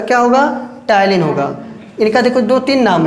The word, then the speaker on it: ptyalin: टायलिन का spelling देखो, PTYALIN। लिखा है टायलिन लेकिन इसको पढ़ेंगे टायलिन।